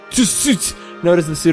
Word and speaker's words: Tsutsu: building known as the Tsutsu Ruins. I'm just kidding. You don't really pronounce the T.